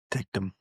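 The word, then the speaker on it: Ticktum: You got to say Ticum.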